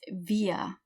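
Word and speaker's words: wir: the letter S via starts with a W just like we but we pronounce every W like a V so it's via okay via eeeh rhymes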